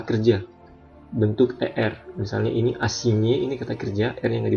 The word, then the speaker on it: assigné: Sekarang GN, huruf GN dibaca nye dalam bahasa Indonesia. Contoh, assigné, menugaskan, cagnotte, jackpot.